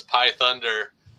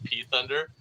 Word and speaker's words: Pi Thunder: and her name was Pi Thunder. And my cousin kept, but it's subtitled, but Pi is spelled P-I, so it looks like it says P Thunder.